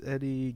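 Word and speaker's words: Edi: I think it's pronounced Eddie. It's spelled E-D-I, though.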